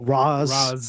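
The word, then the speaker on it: Ra's: I'm used to the the actual way you say it in Arabic right right Um, I guess but it's it's read read words versus spoken words.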